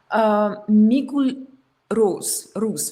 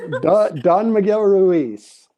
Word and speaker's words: Don Miguel Ruiz: are really focusing on the spirit, especially the Migul Rus, right? Migul Rus. I could pronounce it wrong. You know, please forgive my Russian. Yes, Don Miguel Ruiz.